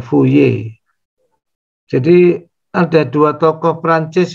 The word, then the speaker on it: Fourier: dan dan macam-macam dia orang Perancis jadi bacanya Yang bener fuye r nya jangan kedengaran ya fuye jadi ada dua tokoh